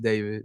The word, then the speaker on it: D4VD: Pronounced David, not D4VD.